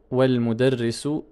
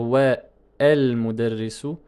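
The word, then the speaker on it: وَالْمُدَرِّسُ: Donc je ne peux pas dire wa el mudarrisu, ce serait faux.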